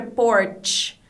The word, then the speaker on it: porch: Então, a diferença na pronúncia está justamente nessa última sílaba. Uma é Porsche, com o sh, e a outra é porch.